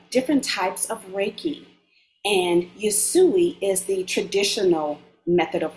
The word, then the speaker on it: Usui: So, what exactly is a Yusu? And did I pronounce correctly? Please. Usui, Usui.